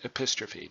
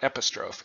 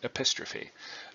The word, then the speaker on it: epistrophe: how you pronounce it epistrophe not Epis trove epistrophe and in greek where this comes from all the syllables are pronounced and it's the it's